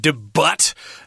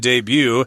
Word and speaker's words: debut: languages including French and debut is using the French pronunciation there you just don't pronounce the T at the end of this word debut but hey what